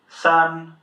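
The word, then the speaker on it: 三: it with an "a" so whenever you see an "a" in pinyin you pronounce it as an "ah" sound. Yeah, so sān, sān.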